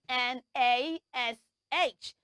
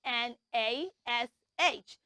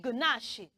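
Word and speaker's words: gnash: yes it has a silent G so it means that we're not going to say the sound G or J in that word let me spell it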